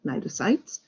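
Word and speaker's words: cnidocytes: special cells that's called nitrocytes all right we don't pronounce the c so you say n nitrosites so these are the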